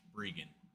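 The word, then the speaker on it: Breggan: It's spelled like Brian but pronounced Brian because my parents are strange, I guess.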